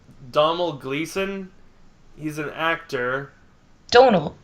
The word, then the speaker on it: Domhnall: Domhnall. It's pronounced Domhnall.